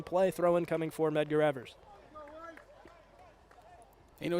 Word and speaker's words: Medgar Evers: So initially last week, I fully butchered it. I thought it was Measure Evans. Evans is obviously not the name. It's Evers, and it's not pronounced Measure. It's Medgar. Well, with Medgar Evers, of course, a civil rights icon.